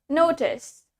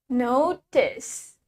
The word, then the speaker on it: notice: We have notice. So, in British English, we have the T pronounced as T. T-nya tetap dibaca sebagai T. Notice. Notice. Notice. In American, we pronounce the T as D.